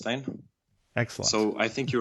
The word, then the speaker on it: Øystein: hear you pronounce it one time sure it's pronounced Ain excellent so I think you were pretty close